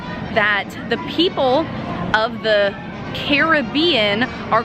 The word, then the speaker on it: Caribbean: hear all the time everyone refers to it as either Pirates of the Caribbean which is how I say it or Pirates of the Caribbean and I know that in like American speak or in American dialogue we say Caribbean but I actually found